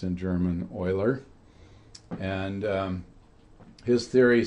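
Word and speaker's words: Euler: In the case of buckling, we have a formula which was developed by a German mathematician named Oiler. Eu ler is pronounced in German. Oiler and um his theory said that for this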